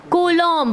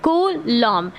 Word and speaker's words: Coulomb: इसको कूलम्ब, कोलम्ब ऐसे बुलाते हैं इसका, जबकि नाम है कूलम्ब। क्या नाम है? कूलम्ब, मतलब COULOMB, कूलम्ब।